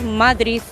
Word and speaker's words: Madrid: los madrileños por ejemplo a ninguno le oído pronunciarlo como con la de final pronunciamos matriz terminado el zeta y no determinante no no escuchamos mucho pero el mensaje desde el del madrid que dice de c's